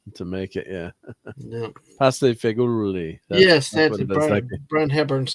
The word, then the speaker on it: pasta fagioli: Pasta fagioli.